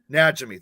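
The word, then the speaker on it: Najimy: that night Midler Kathy how do you say Kathy's last name that Jimmy or is that how you said najimi najimi thank you yeah mitt Midler Kathy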